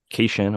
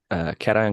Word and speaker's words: cation: But essentially, it said ant nests showed higher nutrient and cation or cation. Everybody pronounce it a little differently. I think it's cation though.